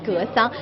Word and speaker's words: Gesang: if you like to pronounce, but we can pronounce it as Gesang.